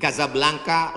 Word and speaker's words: Casablanca: kuliah nama negaranya Maroko ibukotanya tulisannya Casablanca cara bacanya Kadzab langka Kaza artinya rumah Blanca artinya putih Kasablanka rumah warna putih bahasa